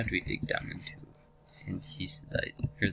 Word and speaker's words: andesite: Okay, why do we dig down into andesite? Or that's not how it's pronounced. It's called andesite, but I like calling it andesite.